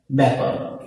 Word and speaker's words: ব্যাকরণ: জ ফলাযুক্ত বর্ণের ক্ষেত্র এমন হবে, যেমন আমি যদি লিখি ব্যাকরণ, এখানে যে আটা আছে এই আটাও এর মতো উচ্চারণ হবে, ব্যাকরণ।